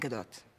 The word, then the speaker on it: Gadot: And remember, it's pronounced Huawei and Gadot.